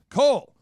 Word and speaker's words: Cole: the name of Cole Cole your name rhymes with soul and that is great